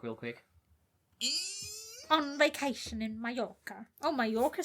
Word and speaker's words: Mallorca: Oh it's my pronounced gosh, yes. Mallorca.